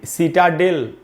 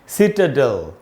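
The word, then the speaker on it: citadel: इसको भी सिटाडेल नहीं पढ़ना चाहिए, इसका शुद्ध उच्चारण है सिटाडेल।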